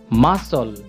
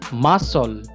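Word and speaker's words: muscle: এস সি এল ই মাসল আমি আরেকবার বলছি মাসল এখানে এই যে সি এর উচ্চারণ হবে না অর্থাৎ এটা উচ্চারণ হবে যে মাসল মাসল অর্থ মাংসপেশি পি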